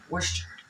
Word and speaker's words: Worcestershire: Every country is different, but it's pronounced properly. Worcester. Oyster? Worcester. It's like saying oyster. Worcester.